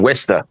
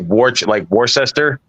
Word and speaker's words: Worcester: That's spelled like Worcester, but fucking Worcester. Yeah, Worcester. Worcester County has that's where Jay has the most. There's no H in Worcester. Worcester. It's like Worcester. It's just weird the way that they,